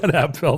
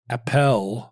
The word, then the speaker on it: Appel: It was Appel, then it was Apple, now it's Apfel. It's not Apfel, though. There's no F.